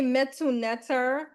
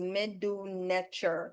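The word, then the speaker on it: Medu Neter: Some people say metunet, some people say miduneter. Um the classical way to say it is miduner.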